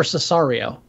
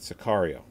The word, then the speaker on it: Sicario: this past weekend watched now it's Sicario or Cesario it Sicario Sicario i've been pronouncing it wrong um I finally got on